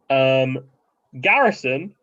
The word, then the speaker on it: Garrison: Garrison, of course, rhyming with Harrison Ford, if that wasn't clear, is from Peaky Blinders.